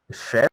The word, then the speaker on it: chef: chops so this word is an exception so chef is pronounced like with s chef did i say